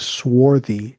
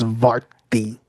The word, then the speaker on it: swarthy: Hey, it's not swarthy. It's svarti. Svart.